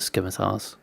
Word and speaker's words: scimitars: Yeah, the C is silent. Okay. I'll almost definitely forget that and just pronounce it scimitars.